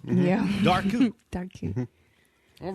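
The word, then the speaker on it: Dobhar-chú: Okay, that would be the Dark Coup. Yep, the dark. Even though it looks like Dobar Chew. Yeah. Dark Coup.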